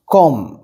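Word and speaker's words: comb: make তো আগে পড়েছো কম বি এর উচ্চারণ হয় না খুব সাইলেন্ট মানে হয় না বললেই চলে কম মানে চুল আঁচড়ানো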